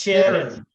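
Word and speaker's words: Ciarán: It's Sharon.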